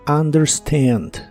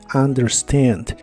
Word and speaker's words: understand: de inglés es understand la u se pronuncia como a understand understand y en el presente